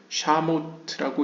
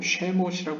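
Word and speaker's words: שמות: 뜻이 있고요 그 다음에 뒤에 나오는 샤모트라고 읽지 말고 쉐모시 입니다 이름이란 뜻의 복수형이라고 볼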